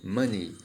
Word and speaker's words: money: A gente escreve money e muitas pessoas têm o costume de pronunciar dessa maneira. Lembre-se que a pronúncia aqui é money. Sim, money, que significa dinheiro, né?